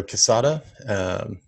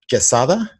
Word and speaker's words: Quezada: It's pronounced Quezada. Quezada. Quezada. It's kind of like cheese. So quesadilla, quesadilla, whatever. That's how you pronounce it.